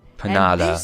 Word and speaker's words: Panada: I would say Panda because it kind of looks like Canada. Rude. I am Madame Panada. Panada, that's how she pronounced it.